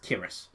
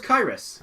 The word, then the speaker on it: Kiris: He says he actually says it's pronounced Kiris. Kiris. I always thought it was Kyrus.